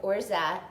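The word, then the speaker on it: orgeat: tai is or or like o-r-g-e-a-t but you pronounce it like orza and the z is like zsa so origin or jets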